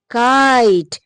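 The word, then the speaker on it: kite: किट लेकिन short sound इसके साथ मैजिकल ई लगाओ तो क्या बन जाता है? आई का साउंड लॉन्ग हो गया। क्या बन गया? काइट आइट आइट आइट बन गया।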